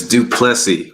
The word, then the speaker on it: Duplessy: And I hope, Derrick, that I am pronouncing your last name correctly because I can be definitely challenged. So, welcome. It's Duplessy, but it's one of those things where, if